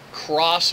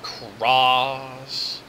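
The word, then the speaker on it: Xross: And it uses the Cross Media Bar operating system. It's spelled X-R-O-S-S, Cross.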